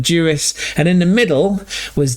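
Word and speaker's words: Ďuriš: Not playing under Jurus, but Juris.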